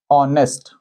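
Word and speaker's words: honest: तो इस शब्द का उच्चारण कैसा होता है? ऑनेस्ट। आप देख रहे हैं ए इज ऑनेस्ट बॉय। अब इस शब्द को इस वर्ड को यदि आप देखेंगे तो उच्चारण हुआ है। ऑनेस्ट में सामने स्वर आ रहा है। इसका उच्चारण ऑनेस्ट अ से हो रहा है।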